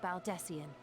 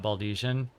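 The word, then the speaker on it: Baldesion: of the students of baldessian and our ostensible reason for being here is to aid in their order's restoration been pronouncing that word wrong the entire time not baldesian whoops it might expedite our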